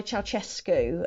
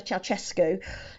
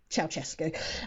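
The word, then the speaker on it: Ceaușescu: this dictator called Nicola chesu who I had to go and find a YouTube video of how to pronounce his name because it does not look like chesco um so he had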